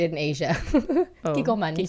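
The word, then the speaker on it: Kikkoman: Kikoman, you said it right.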